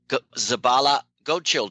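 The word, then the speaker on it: Zabala-Goetschel: We have Ecuadorian rider Ronald Zabala Godchill. Did I pronounce the last bit right, Ronald?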